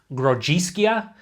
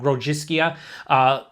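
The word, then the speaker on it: Grodziskie: I think the actual way to pronounce it is like Grodziskia. It's something like that.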